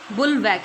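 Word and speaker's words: bulwark: बुलवैक, इसमें are silent होता है, ठीक है।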